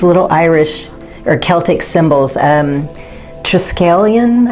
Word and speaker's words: Triskelion: Triskelion, I think is how you say it, Triskel or Triskelion.